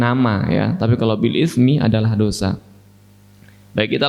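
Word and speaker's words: بالإثم: Sekarang, perhatikan kata "bil-ithmi," jemaat, perhatikan huruf "tsa," bukan huruf "sin."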